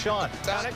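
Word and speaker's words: Chone: It's spelled C-H-O-N-E, but it's pronounced Sean.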